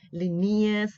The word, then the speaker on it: Linnaeus: well into the 18th century when you had Linnaeus Carl Linnaeus another way of pronouncing his name right Renee is right Linnaeus like nares you will hear different ways of